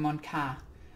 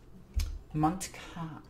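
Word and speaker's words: Mont'ka: A single sept commander, okay, so just one, can declare Kion and Mont Ka. Okay. Mont Ka. Is it Mont Ka or Montka. I always heard it pronounced both ways.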